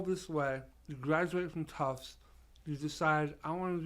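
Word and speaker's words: Tufts: the life of him cannot pronounce tough okay it was like what's your son go to school tough no toughs tough not toughs so I said finally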